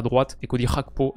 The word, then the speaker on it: Gakpo: à droite et kod rakpo à gauche je sais que certains sont pas très fan de la prononciation rakpo le G en néerlandais pourtant je suis le